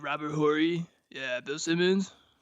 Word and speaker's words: Horry: It's like we all know how to pronounce this name. Yeah. Like like Robert Horry.